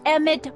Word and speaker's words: Emmett: bill to a tee that's Emmett Brown rhymes with clown which I'm beginning to